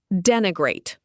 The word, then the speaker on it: denigrate: Denigrate. Pronounced den-i-grate.